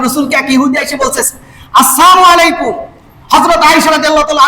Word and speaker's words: আসসালামু: আসসালামু বলেন। আসসালামু আসসালামু আলাইকুম আলাইকুম আমি কেন সালামটা শিখাচ্ছি এর কারণটা বলি। অনেকে আমরা সালাম দেই। সালামু আলাইকুম। আমরা অনেকে বলি সালকুম সালকুম।